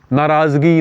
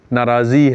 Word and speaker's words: ناراضی: ناراضگی نہیں ہے, ناراضی ہے.